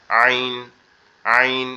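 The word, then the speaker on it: ع: আইনের উচ্চারণটা হবে আমাদের কণ্ঠনালীর যে মাঝ বরাবর, অর্থাৎ আমাদের যে গলার উঁচু অংশটা আছে এখান থেকে একটু গলাটা চেপে একটু বসা বসা আওয়াজে আইন, আইন এরকম ভাবে, ঠিক আছে?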